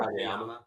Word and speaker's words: Kageyama: Kageyama.